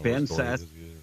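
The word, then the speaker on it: Ben Sasse: It was Ben Sassy. Wait, I didn't catch that. Well, I think you said Ben Sassy. This text is saying it's Ben Sass with a silent E.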